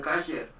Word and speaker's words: kosher: kosher, se escribe kosher, aunque en el hebreo sefardí y en el askenazí hay una diferencia porque unos pronuncian kasher o kosher, pero en fin, las dos pronunciaciones son correctas.